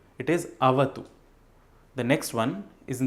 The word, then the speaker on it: avatu: Now, there are a few words which are most commonly mispronounced in this mantra. The first one is Sahana Bhavatu. It is not Bhavatu, it is Avatu.